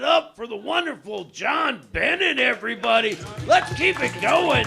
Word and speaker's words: Bennett: stuff and uh and my last name is Bennett which you guys you Americans like to pronounce as Benet which uh is it's